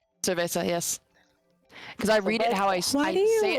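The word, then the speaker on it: cerveza: This is like me with the word earlier that I couldn't pronounce. Yeah. Cvesa. Cervesa.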